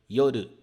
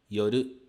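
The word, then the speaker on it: 夜: Japonês é essa daqui yoru significa noite a pronúncia dela é da seguinte forma Yo r yoru yoru esse D ele não é lido Du né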